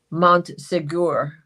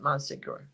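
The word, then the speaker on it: Montségur: is where you came in through um um Montsegur. I'm I'm not even sure I'm saying it right, but I think that's how you say it. Montsegur.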